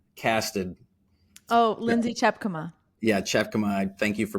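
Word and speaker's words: Tjepkema: Yeah, Chepkema. Thank you for pronouncing that.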